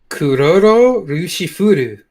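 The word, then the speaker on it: クロロ=ルシルフル: Next to it is going to be the Japanese pronunciation, and I want you to give it a whirl. Oh, Jesus. So is this my agentisms coming in? Kuroro Rushifuru.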